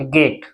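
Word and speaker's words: gate: टी से पढ़ेंगे ट और ई साइलेंट गेट क्या पढ़ेंगे गेट इस तरह से हम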